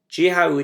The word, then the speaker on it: dèanamh: Dèanamh dèanamh. So you'll hear both dèanamh dèanamh or dèanamh dèanamh. Both are acceptable pronunciations, which you'll hear quite commonly.